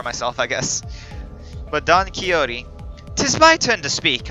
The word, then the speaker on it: Quixote: Quixote. Okay, so it's pronounced Quixote.